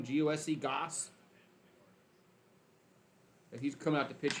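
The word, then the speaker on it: Gose: G-O-S-E, Goose.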